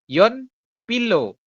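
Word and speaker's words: 연필로: S poin s adalah tulisannya ini kan dibacanya Yon Pilo benar enggak oke Ini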